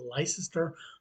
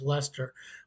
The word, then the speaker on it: Leicester: London tourists make is not knowing how to pronounce l-e-i-c-e-s-cr you're saying license that's what my mother's been to England she couldn't pronounce that they had to tell her it was Lester why isn't it l-e-s-t-e-r